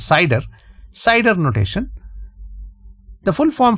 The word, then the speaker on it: CIDR: will use what is known as a cider notation or cidr which generally pronounces cider cider notation the full